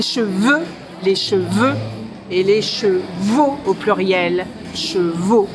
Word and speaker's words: chevaux: petite série des mots les plus difficiles à prononcer pour les anglophones alors comme là il y a un petit manège avec des chevaux j'en profite pour vous parler des cheveux et